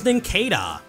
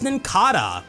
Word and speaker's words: Nincada: This Pokemon's official pronunciation is Nincada. No, it's not. This Pokemon's official pronunciation is Nincada, but that's also a pretty weird one, because the end of its name comes from Cicada.